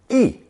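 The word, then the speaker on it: 亦: introducing it here first this simple looking character pronounced fourth tone e has etymologists scratching their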